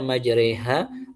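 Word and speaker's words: مجراها: Makanya dia dibaca majreha. Adapun mursahannya tidak dibaca mursiha gitu. Nah, tadi alasannya apa? Karena dibacanya majraiha untuk menggambarkan bagaimana jalannya perahu Nabi Nuh Alaih Salam.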